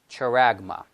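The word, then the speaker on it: χάραγμα: the greek and this is the way we pronounce it charagma character so that's the mark that's the word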